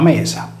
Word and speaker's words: Media: Medusa era omonima di Medea, scritta Media e pronunciata Mesa, poiché era per metà dea della luna e per metà dea della terra.